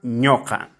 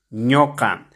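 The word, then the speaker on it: ñuqa: para la primera persona ñoca ñoca se escribe con la vocal u pero se pronuncia con la vocal o ñoca para la segunda persona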